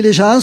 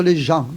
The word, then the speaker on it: gens: On dit les gens au lieu de dire les gens, parce que le S en occitan se prononce aussi à la fin.